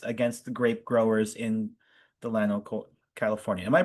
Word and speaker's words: Delano: series of strikes against the grape growers in Delano, California. Am I pronouncing that right? I'm not a Californian. Is that Delano? Delano? Delano? Delano. Thank you. It's pronounced Delano.